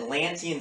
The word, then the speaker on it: Atlantean: And what happened was that the natives, they had an Atlantean civilization, equivalent to what we would say the 23rd century would be like. It was like Star Trek. That's 4 syllables, Atlantean.